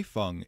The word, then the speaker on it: Hei Feng: His name is typically pronounced Hei, like what a farmer harvests, and Feng, like feng shui.